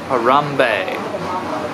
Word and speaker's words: Harambe: village crumby Caramba Harambee a rum bei evidently that's what Sarah says that's that's how you say it so yup greetings friends